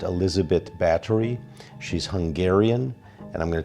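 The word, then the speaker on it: Elizabeth Báthory: Her name is Elizabeth Bathory, pronounced Elizabeth Bathory.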